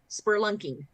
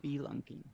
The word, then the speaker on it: spelunking: How about spurlunking? Yes. Spurlunking. Yeah, that happens. Yeah. I think it's spelunking.